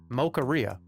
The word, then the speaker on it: Mocharia: It's not mocha. Like pizzeria. Mocharia. Mocharia.